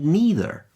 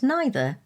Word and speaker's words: neither: In the States, it’s more likely that people would say ‘eether’ and ‘neether’, although I pronounce them